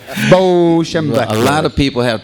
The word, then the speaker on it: Schembechler: How do you pronounce that? Schembechler. Schembechler. Bo Schembechler.